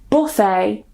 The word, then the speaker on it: buffet: So if they end with a t, we normally don't pronounce it. For example, ballet, gourmet, buffet or buffet, rapport, ricochet.